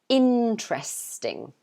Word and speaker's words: interesting: but it's simply because we don't pronounce um one of those e's so we don't normally say this e here you can forget about it so we pronounce it interesting so it's three parts yeah so we've got interesting and you have to stress the first one so you say interesting